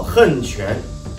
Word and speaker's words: 横: 河南新一六合拳中的横拳也叫横拳，豪横的横的发音。